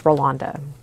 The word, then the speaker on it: Rolanda: to know how to pronounce her name it's Rolanda even though it's spelled r o l a n d a